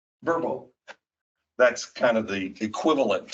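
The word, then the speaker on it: Vrbo: Airbnb, how do you say it? Verbal, yeah. Verbo.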